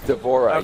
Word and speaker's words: D'Vorah: is it how you how' you pronounce her name d'vorah is that right d'vorah yes what's the Swarm Queen